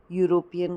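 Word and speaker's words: European: अ क्यों आएगा, क्योंकि यूरोपियन का प्रोनाउंसिएशन य हो रहा है।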